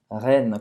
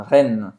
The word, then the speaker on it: Rennes: Rennes. Como a cidade da Bretanha? Rennes.